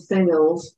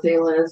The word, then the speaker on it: Thales: And part of book 2 onward, there is a demigod named Thales, or Thales, depending on the pronunciation, who plays a part in this.